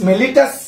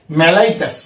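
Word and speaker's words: mellitus: হয় ডায়াবেটিস দুই প্রকার ডায়াবেটিস মেলিটাস আসল উচ্চারণ হচ্ছে ডায়াবেটিস মেলাইটাস আর ডায়াবেটিস ইনসিবিটাস দেখ ডায়াবেটিস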